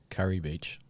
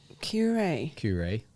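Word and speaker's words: Kure Beach: Well, don't try and get me to say Curry Beach. Curry.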